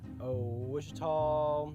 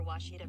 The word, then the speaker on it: Ouachita: Wichita. Achita. Ouachita. Is it pronounced Ouachita? Searching for Ouachita Baptist University along your route. Some folks think the O is a Q and they say Quashita.